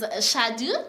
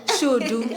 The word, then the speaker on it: Shudu: Now, joining us today is Shadu. Yes, am I pronouncing your name correct? Shudu. Oh, yes, Shudu, yes.